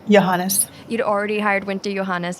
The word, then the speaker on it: Johannes: Winta, how did you pronounce her last name? Johannes.